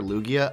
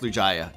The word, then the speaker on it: Lugia: not to call it lujaya some people prefer lugia i do see the comments but i actually read the pokemon dictionary and it actually is pronounced lujaya just saying so you guys